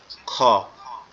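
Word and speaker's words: خ: এরপরে যেটা আছে কাচির মতো দেখতে, উপরে একটা নোক্তা, সেটা হচ্ছে খ। এটা আমাদের কোথা থেকে উচ্চারণ হবে?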